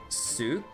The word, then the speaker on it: souk: So wait souk is more the way it's pronounced.